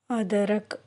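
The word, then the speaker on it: अदरक: அதரக் ஹிந்தியில் எப்படி ப்ரொனவுன்ஸ் பண்ணுறதுன்னா ADARAK, அதரக். அது இங்கிலீஷில் ஜிஞ்சர்.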